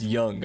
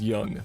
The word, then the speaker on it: Jung: pissing your pants because I misspelled or I mispronounced his name. I'm googling it right now for you guys, okay? Oh, it's Jung. Okay, it's Jung.